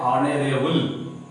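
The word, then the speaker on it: honourable: यहाँ भी होगा एन, चूंकि यहाँ भी एच साइलेंट है, इसको हम लोग पढ़ते हैं ऑनरेबल।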